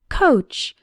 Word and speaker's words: coach: The letters OA simply have the sound of O, like in the words know, so, boat, and coat. The CH at the end sounds like in the words chair, which, and match.